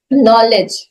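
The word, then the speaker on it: knowledge: जैसे बोला जाता है कि नॉलेज, साइकोलॉजी, ये सारे में पी, साइकोलॉजी में पी है ही नहीं, नॉलेज में के है ही नहीं।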